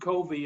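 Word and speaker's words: Covey: the fight with Edward Co V and the reason why I'm calling Koby is because that's the way his name would have been pronounced on the Eastern Shore he'd he just he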